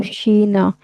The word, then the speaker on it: China: आओ शीना। शीना चाइना को शीना बोलते हैं वो लोग वहां पे ना, उसकी प्रोनाउंसिएशन थोड़ी सी डिफरेंट है जो हम उसको बोलते हैं।